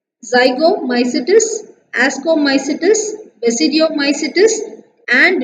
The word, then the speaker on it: Ascomycetes: It's zygomycetes, ascomycetes, basidiomycetes and deuteromycetes. How to pronounce that?